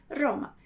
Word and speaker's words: Roma: Roma. Então, alguns italianos vão pronunciar Roma, ok? Roma, com uma vibração menor. E você vai poder encontrar também italianos que vão falar Roma, Roma, ok?